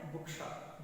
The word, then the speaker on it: bookshop: Compound words take stress on the first syllable.